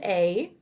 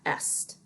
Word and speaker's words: est: We have il est, which means he is. And again, this is pronounced A, like the letter A, not est.